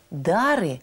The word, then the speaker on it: дары: слова в церковнославянском языке слово дары произносится с ударением на первом слоге те кто в храме